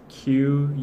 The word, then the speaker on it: qualms: Q-U-A-L-M-S, that's the spelling, qualms. Even the pronunciation, you know, it sounds like K-W-A-M-S, I guess.